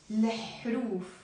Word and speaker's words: الحروف: But if you want to say the letters, you say لحروف.